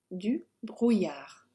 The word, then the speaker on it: du brouillard: So we're not pronouncing the consonants on the end. So, du brouillard.